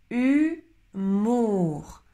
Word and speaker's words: humour: Humour, humour, humour. La différence, c'est, attention, le O et le U qui se prononcent OU.